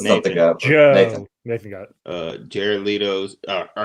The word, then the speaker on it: Jared Leto: ] name stop it it's not leto it's jared leto stop it you [